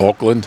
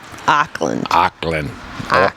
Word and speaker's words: Auckland: Auckland? Did I say it wrong? Auckland. Auckland. Auckland. It's like O for awesome.